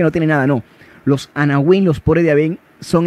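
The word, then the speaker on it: anawim: Yahvé, que son los anahuín. Eso lo anoté ahí, pero ahorita se los puedo escribir. Anahuín, así como se escucha, se escribe Ana y Win con W. Anahuín.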